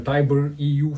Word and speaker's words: TIBER-EU: and lastly there's uh something called the Tyber EU framework it's spelled TI i b r EU framework stands for threat intelligence